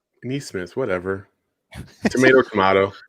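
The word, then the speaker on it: Nesmith: smith you got to say his name right denise smith whatever tomato kamado it's not nate is he related to smith i'm sorry yeah because i said naismith before and then i wanted to say knees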